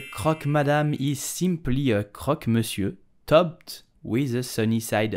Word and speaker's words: croque monsieur: It's a hot sandwich made with ham and cheese, so how do you pronounce it correctly in French? You will say croque monsieur, croque monsieur, croque monsieur, croque monsieur.